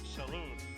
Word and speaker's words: salon: Salon? I'm just gonna pronounce it in French because this is a French word.